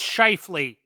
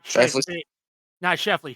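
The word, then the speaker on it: Scheifele: Um, it's pronounced Schiffley, not Shaffley.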